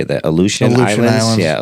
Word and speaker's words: Aleutian: Aleutian Islands. Yeah, Aleutian Islands.